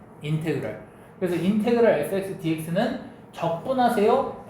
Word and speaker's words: 인테그랄: 요거 읽을 때 어떻게 읽어 주냐면 인테그랄 f(x) dx라고 읽어요. 인테그랄.